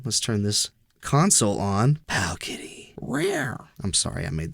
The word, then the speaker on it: Powkiddy: Even though it's spelled D with D's instead of T's.